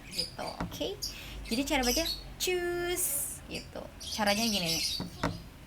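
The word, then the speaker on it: Tschüss: Choose kayak cus aja gitu, kayak gimana ya, cus gitu, cus gitu, cus gitu, tapi depannya kayak ada t, cus gitu, tapi nggak tecus juga, tapi cus gitu.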